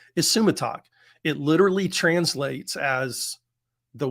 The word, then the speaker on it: Isumataq: title for today's episode uh that word is pronounced isumatak it literally translates as the one who holds